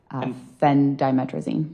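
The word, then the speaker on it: phendimetrazine: Um that is spelled P H E N D I M E T R A Z I N Fen Dimetraine.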